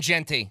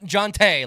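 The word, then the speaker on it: Jeanty: say his name Kanan Ashton Genty I said not jante like I was saying earlier Genty and then somebody else on these Airwaves called him Jey that's Ashton freaking jety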